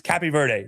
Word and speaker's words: Cape Verde: I like Yeah, the Portuguese version is absolutely like it's cappy verde. That's that's absolutely correct.